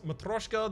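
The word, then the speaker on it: Matryoshka: Matroshka, the next 2 non-boss chests you open contain 2 relics. I've been informed that that was the correct way to say it, so I'm reverting back to that.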